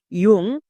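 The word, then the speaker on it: young: তাহলে ওয়াই ও ইউ এন জি, ইয়ং বা ইয়াং, যেটাই উচ্চারণ করতে পারো, ইয়াংও করতে পারো বা ইয়ং এরকমও করতে পারো, তাহলে দুটোই আমাদের সঠিক উচ্চারণ।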